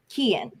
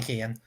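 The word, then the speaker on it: Keoghan: how you say it no because it's Irish which means you leave out some syllables I think it's Kian yeah probably Kian um Eddie Redmayne and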